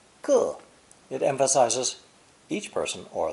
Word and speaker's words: 个: When pronounced fourth tone, 个.